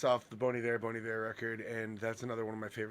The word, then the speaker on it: Bon Iver: It's off the Bon Iver record, and that's another one of my favorite songs of all time.